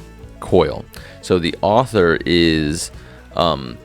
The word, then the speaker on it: Coyle: let me check out how to pronounce this guy's name really quick coil so the author is um Daniel Coyle uh sorry I was